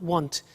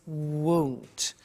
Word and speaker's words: won't: Be careful with the pronunciation. It's not want, it's won't.